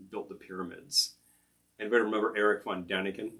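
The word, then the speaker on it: Erich von Däniken: the pyramids anybody remember eric von daniken i believe it should be pronounced irish van daniken this was schlock german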